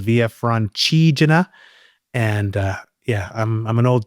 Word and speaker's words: Via Francigena: I spent a decade calling it the Via Francigena, or maybe 2 decades, and it was only in the last kind of year I found out it's called Via Francigena.